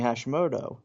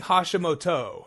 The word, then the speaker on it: Hashimoto: Well, so they're saying Hashimoto, but they're fitting a 4-syllable name into a 3-syllable rhythm.